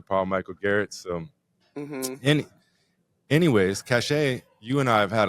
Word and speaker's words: Causha: So for those that don't know, my name is Causha. It's pronounced Causha.